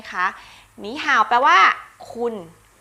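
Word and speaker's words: 你好: หนี ห่า นะ คะ การ เปลี่ยน เสียง ค่ะ เสียง 3 เมื่อ เจอ กับ เสียง 3 นะ คะ จะ เปลี่ยน เป็น เสียง ที่ 2 ใน ตัว แรก และ ตัว หลัง ยัง ออก เสียง 3 เหมือน เดิม นะ คะ เขา ก็ เลย พูด กัน ว่า หนี ห่าว ทั้ง ๆ ที่ จริง ๆ มัน มา จาก คำ ว่า นี่ ห่าว ใช่ ไมั้ย คะ หนี ห่าว แปล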